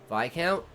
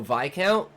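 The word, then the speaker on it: viscount: The S is silent in that word. It's an actual noble title, too. V count. Oh, V count.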